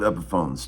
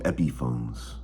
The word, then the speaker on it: Epiphone: He calls them Epiphones. He always pronounces the Epi, because that was the guy's name.